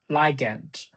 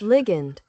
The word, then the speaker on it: ligand: Facial one protein liant. Well, I guess that how to pronounce it. I need to say liant. Legant liant liant. Ligant liant.